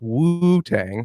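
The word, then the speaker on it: Wu-Tang: Pronounced like that. Shout Accent on the first. Wu Tang.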